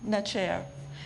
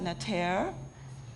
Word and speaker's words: Neter: Nature is, you've heard it before, in Medu Necher. We can pronounce it Neter, Necher, Neter, Netra, Neter.